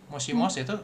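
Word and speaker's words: もしもし: Mosimos itu bacanya mosimosi gitu kan.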